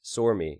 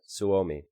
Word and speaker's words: Suomi: how you doing so ami is pronounced more like sore me not sOooo me well I'm gonna say Swami but thank you I